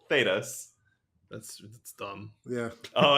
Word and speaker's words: Thedas: Thedas, I think is how it's pronounced.